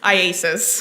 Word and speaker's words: IACIS: How do you say it? IASIS.